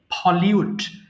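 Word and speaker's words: pollute: আচ্ছা এবার আসি হচ্ছে পলিউট, আমরা পলুট বলি, এটার উচ্চারণ হবে পলিউট, এবং আমরা যখন পলিউশন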